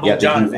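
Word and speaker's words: Bogdanović: Am I pronouncing that? Yeah, Bogdanovich.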